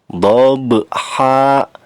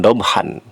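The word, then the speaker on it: ضبحا: fathah tain seperti ini, maka bacanya dhabha, jangan dobhan, tapi dhabha, 2 harokat, dan ini namanya mad iwad.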